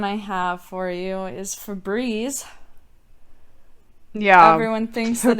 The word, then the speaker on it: Febreze: I mean, I'm gonna just keep saying Fabreze now if they. It's And if you want Febreze. people to pronounce it right, you would spell it Eeze.